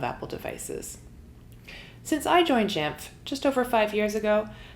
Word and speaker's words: Jamf: and user engagement team at jamf and yes that is how you say it just jamf jamf was born from